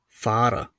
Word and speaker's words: Fahrer: If you have two letters together, or if the letter H is found after the letter A, then the letter H is not pronounced and the other letter is lengthened in pronunciation. For example, Fahrer.